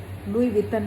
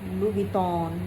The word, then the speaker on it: Louis Vuitton: और कई लोग उस ब्रांड को लुई विटन कहते हैं, लुई विटॉन, लुई विटन, लुई विटन, double T